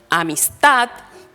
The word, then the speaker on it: amistad: Por ejemplo, amistad, comprar, suenan fuerte en la última sílaba, pero no está señalada gráficamente.